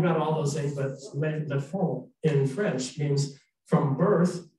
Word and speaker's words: L'Enfant: So that, and it said that Lisette died as lay infant, L'ENFANT. And she says, "That's pronounced Le Fond."